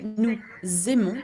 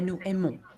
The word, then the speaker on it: nous aimons: Okay, we say nous aimons because we do what we call the liaison. Okay, because nous has an S at the end and aimons begins with a vowel. If you didn't have the liaison, we would say nous aimons. Doesn't sound good, doesn't sound natural